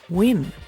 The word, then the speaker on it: Nguyen: this week we have another girl called Diana Newan or win as we just found out if you're Vietnamese that's how they pronounce n g u y n she is